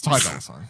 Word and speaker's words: Ty Dolla Sign: It's Ty Dolla Sign, I believe is how you say the person's name.